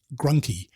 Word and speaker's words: Grunke: now southern us and they pronounce it grunky rhymes with monkey sorry about that love